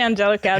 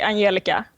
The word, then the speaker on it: Angelica: If I were to say it in Swedish, I'd say Angelica. But okay. Angelica is fine too.